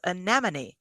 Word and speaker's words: anemone: and the effort to successfully pronounce the word anemon only once though but you did it well and with and not like when you muttered syum syum I think it's syum it was strong it was anemon and that's the way the word is pronounce that's the way it's spelled so I would choose to pronounce it that way myself right after that right